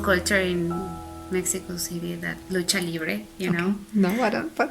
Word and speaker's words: lucha libre: It's a pretty fun culture in Mexico City, that lucha libre, know.